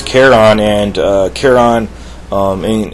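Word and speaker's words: Charon: uh caron excuse me i should actually say his name the right way his name is caron and uh caron um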